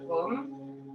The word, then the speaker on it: Om: est le son universel, qui s'écrit A-U-M. Tu laisseras bien vibrer le A au niveau des organes génitaux, le U dans ton ventre, ta poitrine, et le M dans ta tête.